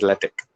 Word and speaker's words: LaTeX: uh latex is this is pronounced uh usually by the layman's uh x that it started and ends uh the word ends with an x uh but the actual pronunciation is latex uh but in any case